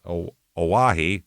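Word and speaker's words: Oahe: Yes, Aahi is how you pronounce that.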